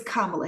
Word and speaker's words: Kamala: I'm gonna say it for you once correctly, and so you need not mispronounce it again. It's Kamala Harris.